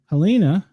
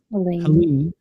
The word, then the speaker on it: Helene: Helena, am I saying it right, or is it Helene? Helene, cat 4, 140 mile an hour winds, 822 miles wide, with a wind field of 370 miles.